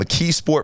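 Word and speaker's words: McKeesport: Mkeesasport Pennyslvania, right?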